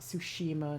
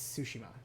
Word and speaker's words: Tsushima: No emphasis on any part of it. Not Tsushima, not Tsushima. It's Tsushima.